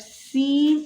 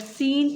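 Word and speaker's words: س: But Seen is a light letter and Sod is a heavy letter. Sod is a heavy letter. It is pronounced with more emphasis, but Seen is pronounced lightly.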